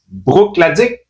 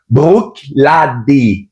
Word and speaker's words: Bruichladdich: Un très beau produit encore une fois de la série Brookic.